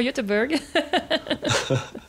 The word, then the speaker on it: Göteborg: grosse ville de Suède, qui se prononce effectivement Göteborg.